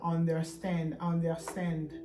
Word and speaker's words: understand: Mingi biso ba tolobaka français accent na biso so totanga ngo mingi to prononcera understand. Bosana R wana un peu, hein?